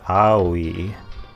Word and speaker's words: Aoi: to pronounce the name Aoi. The video I saw said it's pronounced Aoi. So you kind of like just how those three vowel sounds sound in Japanese, just kind of mashed together.